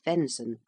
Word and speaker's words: venison: Venison, pronounced venison, the flesh of deer.